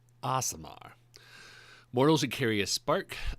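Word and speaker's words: Aasimar: case you're not familiar with what asamar is pronounce aamar aamar Mortals should carry a spark of the upper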